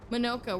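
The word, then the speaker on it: Monoco: Minoka. We're gonna go to Minoka. I'm glad they told me how to pronounce it because I would have said Monica.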